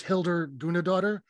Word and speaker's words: Hildur Guðnadóttir: Joaquin Phoenix won Best Picture, and I believe this is how it's pronounced. I believe her name is Hildur Guðnadóttir, who did the score, that sort of haunting, like, dual cello thing.